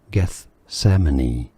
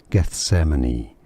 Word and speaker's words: Gethsemane: Gethsemane. Gethsemane is how to pronounce it. It's a bit of a mouthful. At least the first two syllables. Gethsemane is how you say it.